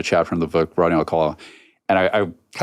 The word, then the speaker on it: Alcala: And like Alcala, Anna's movie, and it's her movie's based on a chapter in the book, Rodney Alcala.